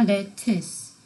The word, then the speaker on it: lettuce: 그래서 letter 편지 letters 편지 letter 그 다음에 상추 양상추 lettuce 어가 아니라 lettuce 이와 으를 합친 발음이라고 생각하면 될까요? lettuce도 아니고 t는 아주 밝은 e 발음이죠.